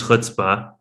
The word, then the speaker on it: chutzpah: think what we're all wondering is what is hutzpah it is a great question and you are pronouncing it correctly i'll start with that but